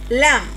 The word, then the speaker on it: lamb: We have lamb.